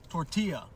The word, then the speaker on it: tortilla: Totally forgot about those two L's. Tortilla.